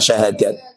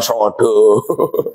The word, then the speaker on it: syahadat: Wong Jowo berhubung lidahnya seperti itu, bacanya bukan kalimat syahadat tapi kalimat sodo. Paham? Kalimat sodo. Kalimat sodo itu artinya kalimat syahadat. Sebab lidahnya orang Jawa itu agak gimana gitu.